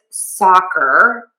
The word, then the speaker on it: soccer: Now, this is another case of the open A. Really open your mouth. You're going to open your mouth in this case in a wide oval.